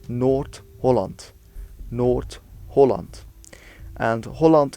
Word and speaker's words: Holland: Holland North Holland and Holland is pronounced with again a more rounded oh that's slightly down to